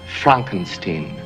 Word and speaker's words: Frankenstein: For example, in Young Frankenstein, My name, it's pronounced Frankenstein.